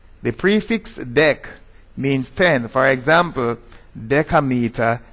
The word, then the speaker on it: decameter: If the vowel is an A or an O, it is dec. If it is an I or a C, it is des. So it is decameter, decimeter, and decimal.